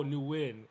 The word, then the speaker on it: NUWIN: So people in my city would be calling me calling me new like like they saying, "Oh, so your middle name is Newin." And I was like, "No, it's pronounced win." Oh, Newin.